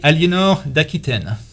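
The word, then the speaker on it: Aliénor d'Aquitaine: How do you say her name in French, Philippe? That would be Eleanor d'Aquitaine.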